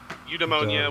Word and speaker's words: Eudaimonia: There's a plethora of ways you can pronounce it. They all work. Even if you Google it and you play it, you'll get multiple variations. It's either Eudaimonia, Eudaimonia, anyone works.